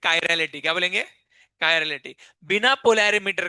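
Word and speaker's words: chiral: अगर compound कायरल है। क्या है? कायरल। अगर कंपाउंड कैसा है? कायर। अब इसको लोग अलग-अलग प्रोनाउंस करते हैं। चिरलविरल प्रोनाउंस करते हैं। ठीक है? इसका एक्चुअल प्रोनाउंसिएशन क्या है? कायरल।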